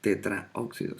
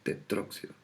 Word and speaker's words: tetróxido: Que se elimina la A del tetra y solamente se deja la O del óxido. Por eso no se dice tetraóxido, sino que se dice tetróxido de dinitrógeno.